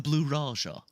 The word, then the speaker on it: Blue Raja: It's the Blue Raja.